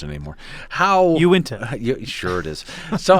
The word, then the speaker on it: Uinta: Same way, Uinta. Okay, because I've heard Unita as well, which I know is completely wrong. That's a transposition of the N and the I.